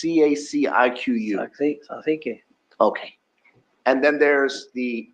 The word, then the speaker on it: Cacique: There's a 2nd crown that's called, I can't pronounce it, it's CACIQU. Cacique.